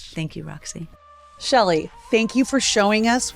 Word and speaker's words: Chely: Uh my name is Shelley Wright, but it's spelled with with the C.